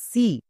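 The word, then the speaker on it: she: হি একই রকম ভাবে এস এইচ ই সি এম ই মি যেমন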